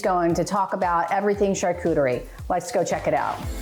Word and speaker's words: charcuterie: Are we saying it correctly, charcuterie? Absolutely. This is technically a modern charcuterie board. Charcuterie is the French word for cured meats. So this is a cheese and charcuterie board, but yes, you're spot on with your pronunciation.